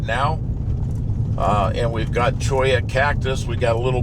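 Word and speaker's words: cholla: And a a cactus called Choya. C H O L L A. Choya. L L is pronounced like a Y in Spanish.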